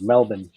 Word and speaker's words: Melbourne: let's hear it so the correct way to say how you guys say Mel born is Melbourne isn't that right guys II people in the states always say Melbourne but it's Melbourne yeah correct me if